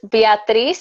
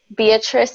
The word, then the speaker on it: Beatriz: pronounce your name yes Beatriz in Spanish Beatriz in English ok ok yeah so